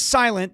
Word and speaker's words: SLNT: This is Silent. It's spelled SLNT, all right? This is Silent.